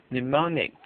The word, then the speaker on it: mnemonics: Mnemonics, the initial M is silent, are clues of any